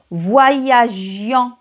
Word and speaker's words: voyagions: في nous هنا كاين دابا غتشوفوا تلاحظوا الفرق. nous voyagions ما درناش ال E ما درناهاش حيت كاين هاد I غادي نطقوها voyagions غنطقوها G voyagions.